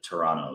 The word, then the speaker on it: Toronto: of people local to Toronto that it's you do not pronounce the T you know if